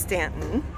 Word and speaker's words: Staunton: So here we are in Staunton, which is actually pronounced Stanton, on our day off.